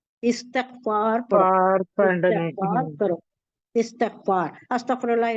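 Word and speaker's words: استغفار: हुजूर सल्ल वसल्लम ने इस्तकफार करो इस्तकफार अस्तकफुल्लाह ला इलाहा इलायम व कुछ भी नहीं आता तो अस्तकफुल्लाह ही कहिए इसका मजदूर इस्तकफार है लोग अस्तकफार अस्तकफार करती है नहीं वो गलत है ये कैसा है मालूम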